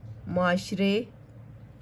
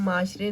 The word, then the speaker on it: معاشرے: ہیں خاص، تلفظ سیکھیں۔ معاشرے، معاشرے، اسے ہم معاشرے نہیں پڑھیں گے، معاشرے۔ نمونے، وابستہ، معلم، تدریس،